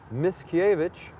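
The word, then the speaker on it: Mickiewicz: important in Polish literature his name is Adam Miscavige right correct yep got it again check me check my pronunciation and this fella is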